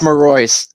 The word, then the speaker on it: Marois: do you say it it's maroy Mary maroy there you go Zachary maroy okay so